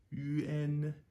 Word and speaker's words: yuan: U with an umlaut is U, and here the A represents a short E. So it's UN, UN, UN.